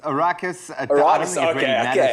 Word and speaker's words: Arrakis: for me greg but am i pronouncing that rightly aricus a raucous arrakis my friend it's a fictional planet